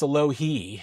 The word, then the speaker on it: Alohi: But then you just, find out over the years that, well, in here it says it's a low he in the official pronunciation.